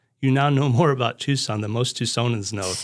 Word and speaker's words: Tucson: So that's why we spell it Tucson, but now we say Tucson.